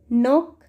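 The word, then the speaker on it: knock: तो देखो मैंने जितने वर्ड्स बोले हैं इसमें मैंने कहीं पर भी कैसे यहाँ पर स्टार्ट नहीं किया है, तो यहाँ पर के क्या है हमारा, साइलेंट है।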